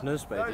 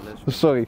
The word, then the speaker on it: Nunspeet: Het is Nunspeet, je legt de klemtoon. Nunspeet? Ja, Nunspeet.